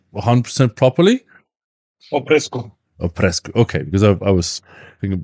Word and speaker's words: Oprescu: can you tell me your surname how to pronounce it just like 100% properly oesco o presco okay because I was think B oesu from